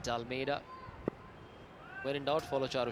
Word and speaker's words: De Almeida: Excellent toss to win for Kevin De Almeida. He got his name wrong with the first 2 days. He kept calling him Almeida. Just been told it's the apostrophe Almeida, pronounced Dalmeida.